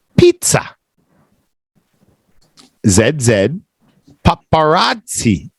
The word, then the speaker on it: pizza: with a zed Pizza in Italian the s's sound like Zeds and the Zeds sound like TS in Italian so so that's why